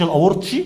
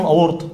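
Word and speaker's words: الأورطي: الايسر ضاخخ الدم في الشريان الاورطه، مش الاورتشي، مش حاجه اسمها الاورتشي، اسمه الايورتا، ايورتا عارف الاجانب بينطقوه بطريقه، هو اسمه الاورطه وخلاص.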